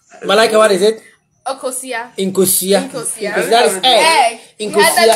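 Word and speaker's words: nkosua: Inkosia.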